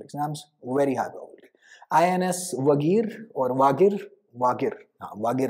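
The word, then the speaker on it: Vagir: V-A-G-I-R, Wagir, Wagir hoga, haan, Wagir. Hindi ko aise, Hindi wale shabd English mein pronunciation mein confusion hoti hai.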